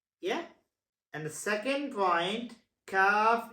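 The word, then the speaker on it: كاف: And the second point, Kaf is pronounced with a softer sound than Qaf. Understand what I'm saying? Yes, Kaf is pronounced with a softer sound Yeah.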